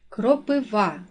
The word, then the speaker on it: кропива: падає на перший склад кропива наголос падає на третій склад добовий наголос падає на